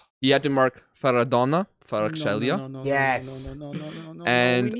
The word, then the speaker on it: Kvaratskhelia: Kvaratskhelia. Thank you. That was a great pronunciation.